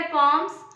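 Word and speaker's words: poem: एक क्वेरी होगी कि मैम पोयम को पॉम्स कैसे बोल रहे हो जी हां इसका प्रोनाउंस एशन होता है पॉम और हम लोग क्या प्रोनाउंस कर देते हैं इसको पोयम जो कि होता है रॉन्ग तो चलिए लेट्स स्टार्ट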